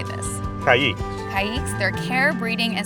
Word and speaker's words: Caiques: Caiques.